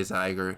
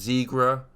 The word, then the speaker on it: Zigra: the video now yes I say ziger not zigra my bad it is pronounced zigra and I'm going to